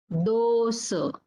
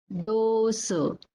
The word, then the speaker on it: dosa: Similarly, for O, this is long here. Loka, Loka, and Dosa, Dosa. Loka means the world, universe. That is called as Loka. And the second one, Dosa.